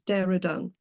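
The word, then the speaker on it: Dehradun: It's Trizin and it's Deradun.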